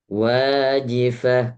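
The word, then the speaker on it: واجفة: Wajifah, kurang harokat.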